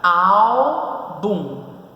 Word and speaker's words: álbum: Álbum. Qual é o nome por quantidade de sílaba?